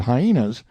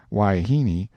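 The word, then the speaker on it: wahine: Haram full of hyenas waha most generally pronounced why heini seems to answer for wife woman and female of questionable character in differently I never can get this man Brown to understand that hyena is not the proper pronunciation he says it ain't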